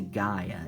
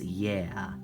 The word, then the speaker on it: Gaia: and father's work and i don't say gaia it's yeah that's how the greeks pronounce it and i'm ha and i'm more than half greek um so that's actually how i was brought brought up uh saying it so it's almost like